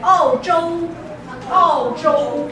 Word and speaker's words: 澳洲: So they call it 澳洲澳洲 OK 澳洲不是欧洲欧洲 is Europe 澳洲澳洲 which is Australia OK 澳澳 is like ouch 澳洲 OK 澳洲好下一个 This is